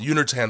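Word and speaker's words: Uner Tan: I can't mispronounce this because it's very close to unitard, and that's not what it is. It's called Unitertan syndrome.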